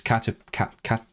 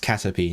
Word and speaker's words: Caterpie: It's Caterpie. And then that's how I know it's pronounced Caterpie, not Caterpie. Caterpie.